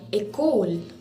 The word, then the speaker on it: école: There are many other like école, E, accent aigu, C-O-L-E, école, and many other words.